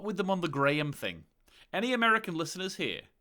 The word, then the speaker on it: Graham: that's just wrong like his name is clearly pronounced graham like even even if you would default to you know gram as the as the as the start of pronunciation now i i struggle uh